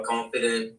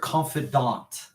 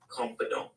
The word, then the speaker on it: confidant: Um Charlie Kirk, a confident of we we say confidant because it's it's a it's like a French word. So we use French pronunciation like you know the word cafe.